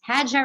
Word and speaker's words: Hajjah: you so much roxani so my name is pronounced as hajja so you did it